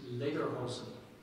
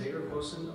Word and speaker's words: Lederhosen: No, that is the only pronunciation. Tuckahoe. T-U-C-K-H-A-O. Tuckahoe. Okay, John David, your word is lederhosen. Lederhosen, may I have a definition, please? Lederhosen are knee-length leather trousers worn, especially in Bavaria.